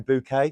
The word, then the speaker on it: Bucket: Bucket. Yeah. And she pronounced her name Bouquet.